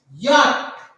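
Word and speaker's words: Jot: Now the next letter is this, and we pronounce this letter as yacht. We pronounce this letter as yacht.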